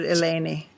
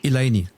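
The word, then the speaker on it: Eleni: She So I pronounced it Elani, but how is it pronounced? She was her first name I I've always heard Elani. Elani. Elani. Yes. Elani.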